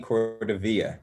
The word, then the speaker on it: Cordovilla: Cordovilla. Did I pronounce that correctly? You did indeed. And it used to be like Godzilla, but no, we changed it.